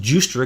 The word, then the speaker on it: Giustra: and by the way I got corrected by one of the most brilliant people in the world our friend that this pronounced jus straight because he's already had